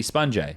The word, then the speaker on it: SPUNJ: they say my name, they call me SPUNJ. And I don't go, oh, it's meant to be pronounced sponge.